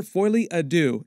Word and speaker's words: Folie à Deux: The title is pronounced Joker Folie à Deux, and it's French for Joker Shared Madness, as in Joker Shared Psychotic Episode.